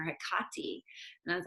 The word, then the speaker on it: Hecate: of a language nerd did you ever notice how we in america or canada if you're in canada i think you probably do this too or in the uk how we always accent the second syllable of something and so i i was listening to all these different podcasts and lectures and things and they were calling her hikati and i was like